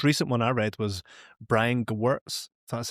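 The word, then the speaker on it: Brian Gewirtz: Like the most recent one I read was Brian Gwartz, that's how you say his name.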